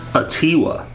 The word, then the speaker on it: Atiwa: thanks for watching tiwa apparently if the stress is on T1 so they never pronounced it right